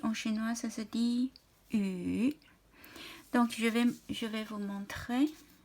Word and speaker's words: 雨: Voilà, ça se prononce, ça se dit yu, c'est la pluie.